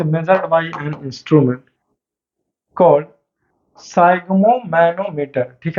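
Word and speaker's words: sphygmomanometer: हैं, उसका नाम है साइग्मोमैनोमीटर, ठीक है जी। इसको कुछ और भी पढ़ता है लोग, लेकिन मैं कहता हूँ साइग्मोमैनोमीटर ही पढ़िए और स्पेलिंग याद रखेगा, राइट।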